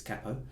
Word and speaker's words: capo: thing you'll need is a capo or a capo if you pronounced it incorrectly it's Kappa first I'm going to